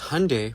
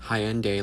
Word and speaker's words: Hyundai: our people because Hyundai, pronounced like Sunday, not Hyendai, like you're saying, is a Korean company.